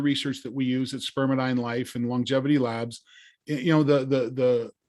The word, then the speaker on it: spermidine: So let's go back to Spermidine, and it's Spermidine or Spermidine. I think I've been saying it wrong. It's tomato. Okay. we say Spermidine.